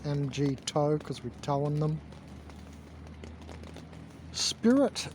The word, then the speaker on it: MGTOW: to impress girls yeah it's an mg toe video or meg towel as people pronounce it i pronounce it mg toe because we towing them